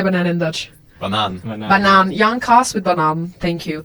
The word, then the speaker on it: banaan: Just new, like the green packaged cheese with a little banana. Wrap it around. Jonkas. Jankas with, how do you say banana in Dutch? Bananen. Banaan.